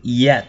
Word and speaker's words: yet: unknown is yet unknown cái từ yet này các bạn nhiều bạn vẫn đọc thành Z các bạn đừng thêm cái âm J vào đầu nhá Nó không không phải là âm J đâu mà nó chỉ là âm y y đó nó là của chữ y you Thế bây giờ